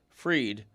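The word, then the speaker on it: Fried: Okay, the pitcher for the Yankees, Max pronounced Freed is pitching a gym.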